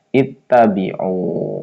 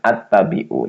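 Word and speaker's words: اتبعوا: Jadi alifnya dibaca kasrah ya. Alifnya dibaca kasrah. Jadi gimana bacanya? Ittabiu bukan attabiu. Jadi itta ittabiu.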